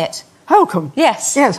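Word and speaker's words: Holkham: north norfolk yes you did so you know holcomb yes is that how you say it how come yes yes how do you say it welcome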